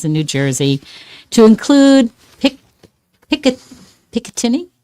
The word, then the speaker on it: Picatinny: New Jersey, to include Picatinny? Is that how you say it? Piccadilly? No, it's Picatinny.